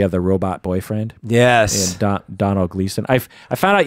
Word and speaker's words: Domhnall: the robot boyfriend yes Donald Gleason I found out you don't call his name Domhnall it's a problem it's it's donal yeah oh no it's